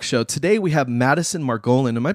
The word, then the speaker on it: Margolin: double do talk show today we have Madison margan am I pronouncing that right yeah Maran cool nailed it and uh she has been